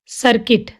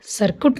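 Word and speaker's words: circuit: Building, सर्किट, सर्कुट नहीं, सर्किट।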